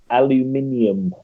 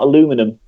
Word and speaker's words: aluminium: pair with aluminium grills I would aluminium not aluminum Eliot soulmate it's aluminum here alibiing we we don't